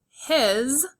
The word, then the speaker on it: his: His is a word where the S at the end makes a Z sound.